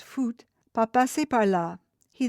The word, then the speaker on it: faut: "Il ne faut," pronounced foot, "pas passer par là."